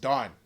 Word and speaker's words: Dan: to the tribe of Don it's it's actually pronounced Don not Dan it's pronounced Don so over time the daites or danites their